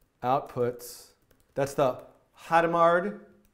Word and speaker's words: Hadamard: D outputs that's the hata mard Hadamard how do you say that again Hadamard Hadamard product I'm gonna write a